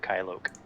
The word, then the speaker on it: Kylok: So if you want to change that name on there, just put Kylok. How do you spell it?